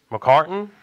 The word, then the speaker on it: McCartan: McCartan.